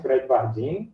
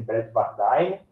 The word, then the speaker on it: Bradwardine: feita por um lógico chamado Tomás Bredbardin, algumas pessoas dizem Bredbardine, mas, né, pode ser um quanto a outra pronúncia.